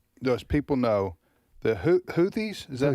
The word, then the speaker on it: Houthis: And the By the way, is the Is it Do you pronounce them the Houthis?